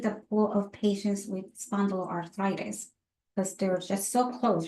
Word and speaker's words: spondyloarthritis: Those with spondylitis arthritis, if I said it right, so it's the Spondyloarthritis.